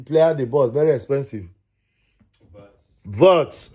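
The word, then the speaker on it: Wirtz: Verts. I had to consult my son to give me the right pronunciation.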